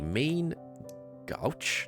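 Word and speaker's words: main-gauche: not okay so what about this one a main gouch this is how you pronounce it a small sword made of pairing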